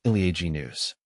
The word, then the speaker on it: Elaeagnus: It's pronounced ilag news.